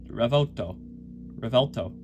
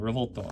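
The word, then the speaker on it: Revuelto: If I did, it would be Revolto. Yeah, Revolto is kind of an English accent. If you go Italian, Revolto. Okay, doesn't matter how you say it. No, just don't say it wrong.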